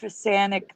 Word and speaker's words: Fisanic: Recall Vector calls him Rich Fisanic, the something mechanic. It sounds the same.